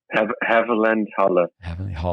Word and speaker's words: Havellandhalle: Havenhalle? Havellandhalle. Havel. There's a big river here, the Havel, Havel. It's a Havelland, and then he threw Halle at the end.